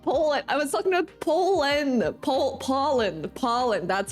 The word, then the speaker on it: Poland: I was talking about Poland. Poland. That's how you pronounce it.